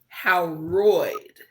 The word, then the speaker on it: Howroyd: Okay, Janice Bryant Howroyd. I thought it was Howard at first, and I had to go back. It's Howroyd. I heard you pronouncing it.